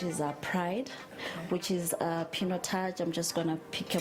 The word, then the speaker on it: Pinotage: It's pronounced Pinotage, right?